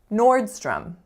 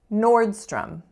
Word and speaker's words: Nordstrom: right as with Costco to letter owes up here in this word but they make totally different sounds from each other so our first sound is or or so that's a complex